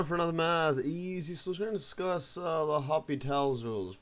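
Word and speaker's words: L'Hôpital's: So we're going to discuss the Hopital's rules, pronounced like that, spelled like hospital, but it's called the Hopital's rule, and the indeterminate forms, what they are basically, illustrated what it is.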